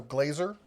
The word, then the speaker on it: Glazer: Michael says pronunciation on his last name is long A, like sir, so Glazer.